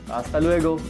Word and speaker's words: hasta luego: Remember, in Spanish, H's are not pronounced. We keep H silent and we pronounce other words. That's why hasta luego, not hasta luego. Hasta luego.